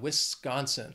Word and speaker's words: Wisconsin: then we have Wisconsin this state has three syllables and the stress is on that second syllable that con Wisconsin people think of Wisconsin